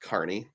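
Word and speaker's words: Kearney: Chad said he had to go over to Carney Nebraska and my understanding is it's pronounced Carney which is kind of like take I 80 and go a third of the way to Denver and there's Carney speaking of traveling AP who's one of the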